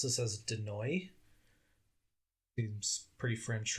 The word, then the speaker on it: Denoille: It sure sounds better than Denoyle. Yeah, I tried like 7 different pronunciations. Just for our audience, it's spelled Denoille. So I'm going to say Denoy.